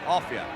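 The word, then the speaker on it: Offiah: His name is Offia. They call him a fire because it rhymes with chariots and flyer. But we'll call him by his right name, Offia.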